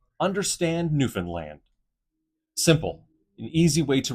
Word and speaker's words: Newfoundland: Understand Newfanland. Simple. An easy way to remember how to pronounce the last section of the province Newfoundland.